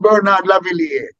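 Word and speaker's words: Bernard Lavilliers: Jimmy Cliff and Bernard Lavillier. His name is spelled Lavillers, but it's pronounced Bernard Lavillier.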